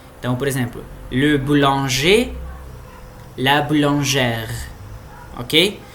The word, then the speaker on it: boulangère: Então, por exemplo, le boulanger, la boulangère, ok? Então aqui o E é fechado e aqui ele é aberto. E a gente pronuncia o R raspado, né, na garganta.